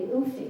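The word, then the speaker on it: Ouphee: A man named Coleman wrote from Belleville asking about the Oofy, and that's one of their many canoes, but it's spelled O-U-P-H-E-E for some reason.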